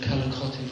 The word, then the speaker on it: Calacotti: I'm very impressed you got the pronunciation of Calacotti right. There are many various versions of it, but that's the correct one.